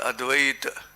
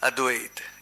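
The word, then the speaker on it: Advaita: all the speakers to pronounce the word advice the actual pronunciation is advait it is but we have a bad habit of pronouncing it with the ah have you heard somebody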